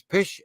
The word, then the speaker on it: Pest: and the other side of the river was pesh and they combined them and there it is that's uh pesh and that's buddha and now it's now it's